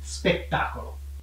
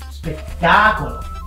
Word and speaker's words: spettacolo: Vediamo come dici spettacolo. Spettacolo. No, molto più entusiasmo, devi mettere l'accento sulla A. Spettacolo.